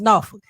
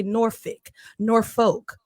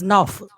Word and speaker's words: Norfolk: Now, if you're from here, it's pronounced Norfolk. If you're not from here, you probably say Norfolk, but it's Norfolk.